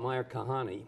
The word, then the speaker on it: Meir Kahane: So you talked about Meir Kahane. Did I pronounce his name right? Yes, correctly. And that's 1990.